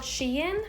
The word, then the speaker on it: Shein: This belt I got on a website called Shein. I believe that's how it's pronounced.